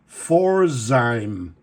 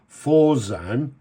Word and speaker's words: Pforzheim: And it was founded in Germany at a place, I'm not sure of the pronunciation, but I think it's Pforzheim.